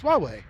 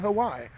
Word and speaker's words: Huawei: right way uh cuz I heard the true pronunciations of it on the internet so I'm like oh it's Huawei okay not Hawaii and it's noia not noia Lumia 521 I